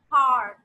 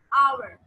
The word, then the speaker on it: hour: Like if I'm saying H-O-U-R, we do not pronounce it as har. We are going to pronounce it as our.